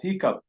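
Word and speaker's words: hiccough: here as you can see is hiccup these those spells as h i c c o u g h the pronunciation is quite different from what the spellings you know uh manifest is it pronounced as hiccup the next one is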